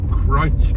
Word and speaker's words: Crich: lovely village of Crich, one of those places that has a name that is pronounced differently than the spelling would suggest. It's C-R-I-C-H, but it's pronounced Crich.